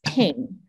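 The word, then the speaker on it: Binh: So my Asian name, the original one was Bin, but in the Chinese pronunciation was Ping. So it was so confusing for me growing up, because then spelling looks like Bin, B-I-N-H, but I was called Ping at home.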